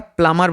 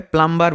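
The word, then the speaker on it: plumber: পাইপের মিস্ত্রী বা স্যানিটারি মিস্ত্রীকে আমরা প্লামার বলি। এটা অনেকে উচ্চারণ ভুল করে। প্লামার বলেন। ম্যাক্সিমাম মানুষের এটা ভুল উচ্চারণ হয়। এটার সঠিক উচ্চারণ হচ্ছে প্লামার।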